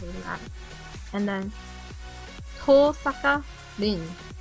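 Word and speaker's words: Tohsaka: And then Tosaka Rin. Is there an H? There's no silent H in Japanese, right?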